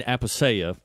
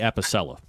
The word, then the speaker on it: Apicella: Eugene Apiseya, I said it wrong on purpose, Port St. John, Florida. It's actually Apicella.